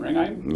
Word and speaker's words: Ringheim: H is silent, Ringheim.